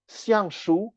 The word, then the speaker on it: Xiang Shu: images and of numbers, Xiang Shu, X-I-A-N-G, pronounced at the fourth tone, and Shu, S-H-U, pronounced at the first tone.